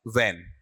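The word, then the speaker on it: when: इसका उच्चारण लेते हैं। तो आपको इस तरीके से बोलना है। ऐसा वेन। इतना।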